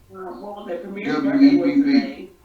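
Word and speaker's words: Webb: The second J is silent. And the last name? W-E-B-B.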